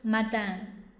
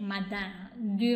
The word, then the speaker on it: madame: 骂人的一个谐音啊，madame 啊，早上，早上。好，il est huit heures dix du matin，du matin。好，我们用 du 来接 madame，du matin。